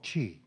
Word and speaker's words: Qi: magnetic inductance is based on technology that's called Chi the other is matter Qi or CH AI Qi Qi okay pronounced CH I'm like the British PM so